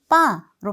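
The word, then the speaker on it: по: 자, 전치사는 뽀라고 적지만 대부분 발음을 할 때는 빠로 발음을 하셔야 되고요.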